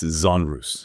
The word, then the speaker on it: genre: It's genres.